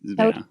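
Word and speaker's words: Toht: It's Tote, I believe. Tote. Because they never say his name, I don't think, in the movie, but he's credited T-O-H-T.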